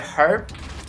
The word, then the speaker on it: herb: It's like they always expect it to be spelled like without the H being silent, you know. But what's really strange is, you know, here in Britain, everybody says herb.